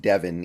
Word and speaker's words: Devon: His name is pronounced Devin, even though it's clearly spelled Devon.